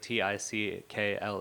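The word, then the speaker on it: Tcl: It's not the word t i c kle. It's tl tool command language. Uh but you pronounce it tickle.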